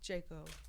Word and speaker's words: J.CO: I will say I love me some Krispy Kreme donuts, but I think my all-time favorite is Jayco donuts in the Philippines Mm.